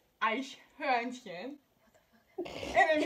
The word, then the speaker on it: Eichhörnchen: Eichhorn. Okay. Eichhorn. Excuse me, I'm Latina. I know how to pronounce that in Spanish. Okay, so it's pronounced Eichhörnchen.